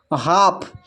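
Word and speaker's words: half: जब एल के बाद डी एफ के एम आए तो एल साइलेंट होता है। देखिए यहां पर हाफ इसमें जो है एल के बाद एफ है और प्रश्न में भी यहां पर कहा गया है एफ आए अगर एल के बाद तो एल साइलेंट होगा।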